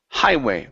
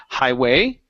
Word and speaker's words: highway: have um the word highway so on this word the stress is at the beginning instead of saying Highway okay it's highway daada highway good so